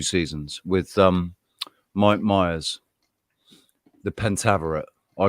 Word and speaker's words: Pentaverate: Has anybody seen the Pentaverati? There's the one they did one season or 2 seasons with Mike Myers. The Pentaverate.